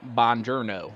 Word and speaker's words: buongiorno: I try to throw in, like, when I'm speaking Italian, I say buongiorno, like he does in Inglourious Bastards, you know? You got to say it like Brad Pitt does.